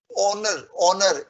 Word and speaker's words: honor: Payment towards salary, payment towards honorarium, honor, H is silent.